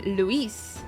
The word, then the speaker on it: Louis: in fact our antagonist he should be called Louie but they call him Louise therefore his name should be spelled l e w i s right if they're going to pronounce it like that my name is actually